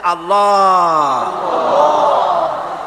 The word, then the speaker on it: আল্লাহ: আল্লাহ পাকের উচ্চারণটা হচ্ছে আল্লাহ পাকের নামের উচ্চারণ হচ্ছে আল্লাহ মুখটা একটু গোল হয়ে যাবে বলেন আল্লাহ আল্লাহ